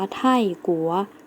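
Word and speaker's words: 泰国: คะ คือ ประเทศ ไทย ประเทศ ไทย เรา จะ ออก เสียง ว่า ไท่กั๋ว นัก เรียน แล้ว ออก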